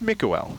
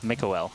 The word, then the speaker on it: Mikael: I think we had stressed the L part of it, and apparently that's not the case. So if I'm still mispronouncing it, that's fine. Just punch me the next time you see me. So really the emphasis is on the E, Mikael? Yeah, so I think it's just Mikael. Mikael.